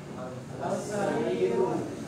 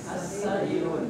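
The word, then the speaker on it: السرير: Sarirun menjadi apa? As-sarirun. As-sarirun. Ya, jangan al tapi as.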